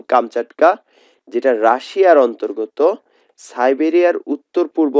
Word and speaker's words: কামচাটকা: বা রসকেও বোঝানো যায় কামসকাটকা মানে হচ্ছে প্রকৃত উচ্চারণ কামচাটকা যেটা রাশিয়ার অন্তর্গত সাইবেরিয়ার